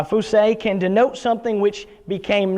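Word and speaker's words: φύσει: word comes in the greek word uh p-h-u-s-e-i how we would spell it in english language uh fousay can denote something which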